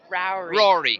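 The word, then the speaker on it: Ruairi: And how do you say this name? Rory. Rory. Oh, it's Rory. Rory. R-U-A-I-R-I. Just spelled a little differently than in the United States.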